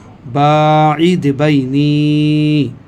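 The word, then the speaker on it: بَاعِدْ بَيْنِي: বায়ে টানলাম, এই জন্য যেহেতু বায়ে আলিফ মাদ্দা আছে, বাইনি নুয়ে ইয়া মাদ্দা আছে, যার জন্য আমি টানলাম বাঈদ বাইনি।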